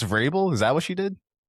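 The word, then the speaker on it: Vrabel: Big she mispronounced Verbel. Is that what she did? Yeah. She called him Mike Verbal.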